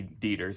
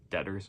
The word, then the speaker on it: Deters: have Justice Joseph T deers I think is how you say his name maybe it's dors or deters I'm going with deers chief justice Sharon L